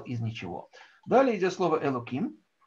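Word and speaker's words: אלוקים: Далее идет слово «элоким». Ну, тут пишется оно через «гей», но произносим мы его как бы через «кув», потому что это имя Всевышнего, которое не стоит лишний раз говорить.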